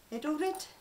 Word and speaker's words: Edelrid: i've got a hold of one of these idle red that's how you pronounce it an edelrid yeah i think it's from there it's the